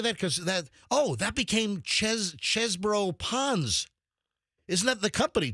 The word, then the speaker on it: Chesebrough: Because that became Chesbro Ponds.